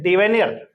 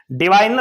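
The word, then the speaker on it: diviner: और यहां पे शब्द है डिवेनियर। ठीक है, डाइविनियर भी बोल सकते हो, डिविनियर भी बोल सकते हो, जैसा आपको उच्चारण अच्छा लगे वैसे बोल सकते हो। ठीक है दोस्तों, तो यहां पे डिविनियर शब्द का मतलब क्या होगा? डिवाइनर है एक्चुअल में ये, डिवाइनर।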